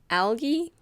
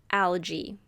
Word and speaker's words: algae: first word is algae you can pronounce it algae or algy this is a plural